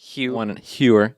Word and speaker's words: Hewer: Yeah, he says one syllable, but it's like kind of Hewer. Nate Hewer with Bank of America Practice Solutions.